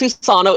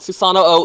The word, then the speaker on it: Susano: It's just Susano. It's just Susano. It's not Susano O, even though it totally should be.